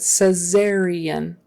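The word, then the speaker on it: caesarean: say C-section um but cesarian with a z sound in the middle cesarian section or c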